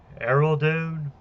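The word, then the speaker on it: Iruladoon: the thing is this is forest called uh aerodune it's it's spelled i r u l a d o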